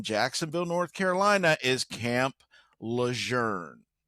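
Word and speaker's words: Lejeune: The big camp in Jacksonville, North Carolina is Camp Lern, not Lune as it is spelled.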